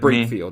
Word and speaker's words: Brakefield: But also Jermaine Brakefield. Did I pronounce that right? Sounds good. Brakefield, yeah.